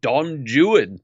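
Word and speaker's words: Don Juan: and fixed it actually in Shakespeare Dawn Juan is pronounced Don Jan therefore Thailand nope ah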